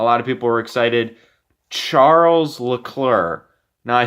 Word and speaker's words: Charles: do understand why but it's a CH so I'm gonna say Charles I'll just say Leclerc